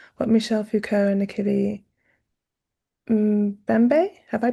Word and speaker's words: Mbembe: Your practice compellingly engages what Michel Foucault and Nikili Mbembe, have I pronounced that correctly? Mbembe.